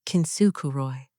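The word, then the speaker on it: 金繕い: The eighth thing, kintsukuroi, pronounced as kintsukuroi, meaning the art of repairing broken pottery with gold, making the crack the most beautiful part of the object.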